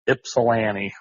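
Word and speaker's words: Ypsilanti: Uh, it it's pronounced Ipsilani.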